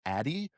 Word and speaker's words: Addyi: I believe it's pronounced Addy. spelled ADDYI, for treatment of decreased libido in menopausal and post-menopausal women.